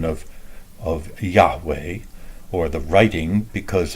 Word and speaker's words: Yahweh: The J comes from the German pronunciation of Yahweh, or the writing, because a J and a Y between German and English is the same Yah sound, and it incorrectly becomes anglicized as Jehovah, because they take the